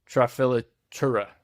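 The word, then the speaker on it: Trafilatura: And for each article, it uses, and I'm going to butcher this, Trafilura, I'm pretty sure is how you say it, but from now on,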